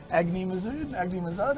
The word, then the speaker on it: Agni Mazud: So we're seeing Agni Mazud, how are we pronouncing it? Agni Mazud, yeah.